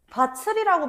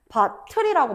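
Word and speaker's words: 밭을: 바칠이라고 발음하지 않아. 선생님 티웃을 치으로 바꾸는 거 구개음한데 쌤 구개음한도 모르세요? 크크크 아니지. 디귿과 티귿이 2나 반문 2를 만났을 때 지과 치으로 바음되는 거지. 그지? 다치 아니면은 뭐 받처 이런 경우에는 우리가 국개 음마가 일어날 수 있어. 근데 바틀은 뭐야? 음모음이잖아. 그대로 연만 시켜 줘야 된다. 바틀이라고 발음을 해 주셔야 된다는 거예요.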